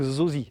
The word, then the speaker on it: Zosi: Donc c'est la marque Zosi, Z-O-S-I. Je prononce à la française, excuse-moi, peut-être en chinois c'est plus joli, plus poétique, mais moi c'est Zosi.